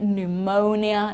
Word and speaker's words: pneumonia: pn it's just okay pneumonia pneumatics okay we don't pronounce the p there at all so keep that list